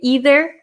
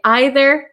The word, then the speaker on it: either: And we can pronounce these two ways. So my pronunciation as an American from Wisconsin, I say either and neither. But other people in America, and I think in England, if Simon's in here, you can correct me. Some people say either and neither. Okay, so both are correct. So whichever pronunciation you'd like to use, that is okay.